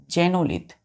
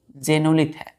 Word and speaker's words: xenolith: चौथा वर्ड बच्चों, चौथा वर्ड एकदम स्मूथली, एकदम पेशेंसली, जेनोलिथ। एक्स है तो एक्स को हम क्या पढ़ेंगे, प्रोनाउंस करेंगे जे, तो एक्स जेनोलिथ, XENOLITH।